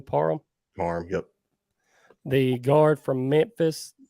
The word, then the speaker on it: Parham: Parham, yep.